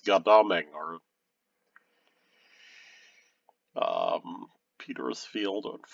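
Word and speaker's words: Godalming: godholding except you know i think in like alms british people don't pronounce the m so it's goddamming or um peter's field on farnam 325.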